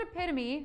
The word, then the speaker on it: epitome: the first place haikus the word epitome although it looks like it might only be three syllables long is actually four when pronounced correctly like i was saying